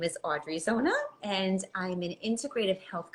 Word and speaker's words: Zona: of messing it up it's Zona z-o-n-a Zona very simple very easy yes welcome so we